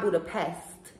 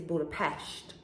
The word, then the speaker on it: Budapest: know i gotta say it's not budapest it's budapest you know just in case somebody asks you that's the proper way to say it okay um but he